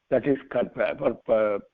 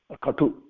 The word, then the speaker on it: katu: That is katva or katu. It is called, not katva is a combined word. Katu should be pronounced.